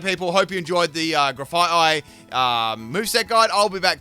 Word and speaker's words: Grafaiai: I think it's Grafaiai. Oh, yeah, Grafaiai, sorry. I had that extra F in there accidentally.